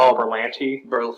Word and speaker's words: Berlanti: The thing that excites me about it is Greg Berlanti, or how do you say his name? Berlanti.